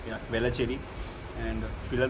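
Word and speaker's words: Velachery: वेलाचेरी am I pronouncing it right? Yeah, वेलाचेरी.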